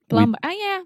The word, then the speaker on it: plumber: That has a B in it. Plumber. Plumber. But not I knew. I don't know why. We don't say plumber. No. That sounds ridiculous.